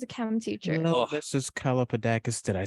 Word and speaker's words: Kalapodakis: Kalapodakis.